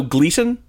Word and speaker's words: Gleason: So Gleason, when it was first founded, was supposed to be called Glisten. Listen. But we pronounced it wrong, and so it's been Gleason ever since.